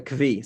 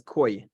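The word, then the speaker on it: כוי: He sees a kvi. Some people pronounce kvi as koi. It's not referring to a Japanese fish. Okay, what is a kvi or a koi?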